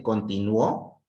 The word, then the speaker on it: continuó: En cambio, si lo digo en la última sílaba, en la O, ¿sí? ¿Sale? Continuó es en pasado.